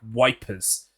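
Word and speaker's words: Ypres: anyone who doesn't know Eep is spelled like wipers the America the English called it wipers in World War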